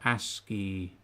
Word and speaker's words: ASCII: Oh, it's like ASCII bowl. ASCII, that's how you pronounce it.